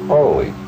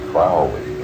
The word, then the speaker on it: Crowley: My name is Aleister Crowley because that I am holy. My enemies say Crowley and wish to treat me foully. So, now you'll never forget how to pronounce it. It's Crowley.